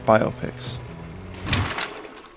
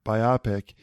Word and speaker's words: biopic: or review or something, they pronounced it biopic. And so I just adopted that and I kept it all these years. And it was a long time before I heard somebody say biopic.